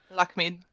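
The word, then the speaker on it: Lakhmid: have to help me on that one, the pronunciation, Lakamid? Lakamid? Lakmid.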